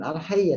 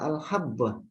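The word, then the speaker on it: الحبة: Padahal tadi yang al-hayyatu as-sauda bukan al-hayya tapi al-habba. Ya. Jadi hayya ya, huruf ya ini bukan titik dua, tapi titiknya hanya satu. Sehingga bacanya adalah al-habba, bukan al-hayya. Hayya ular, habba biji.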